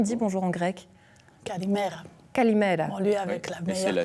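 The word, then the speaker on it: Καλημέρα: Kalimera. Bon, lui avec la meilleure prononciation.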